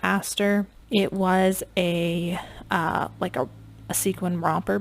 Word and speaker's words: ASTR: Some people pronounce it Aster.